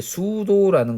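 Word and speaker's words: pseudo: 그다음 이제 수도라는 것이 이 P가 묵음이죠.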